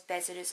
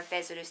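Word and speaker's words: Vessalius: Pandora Hearts tells the story of Oz Bezerus, or Vezerus depending on what pronunciation you use.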